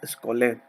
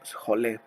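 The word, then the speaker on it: σχολή: Ahora, esta vida entregada al ocio en la antigua Grecia, perdón, es llamada skolé o scholé. Ujú. Varía su pronunciación y se escribe Skhole, la skolé.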